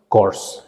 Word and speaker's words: corps: and that particular troop is known as the course and the pronunciation scores and the spelling is c-o-r-p-s so